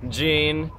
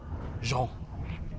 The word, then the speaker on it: Jean: How do you say your name actually? Jean. Jean. His name is Jean.